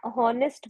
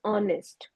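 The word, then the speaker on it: honest: अ I would like to like correct you आपने ना हॉनेस्ट बोला था अभी सो उसमें एच जो है वो साइलेंट है so that is ऑनेस्ट okay होनेस्ट नहीं ऑनेस्ट बोलेंगे उसे ओके मैम ओके एंड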